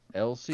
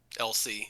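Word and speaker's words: l'Cie: LC. Vanil. LC. Yep. I thought that was an I at the beginning, but I've never played 13, so I thought it was like Icy, like the things you get at at the fair.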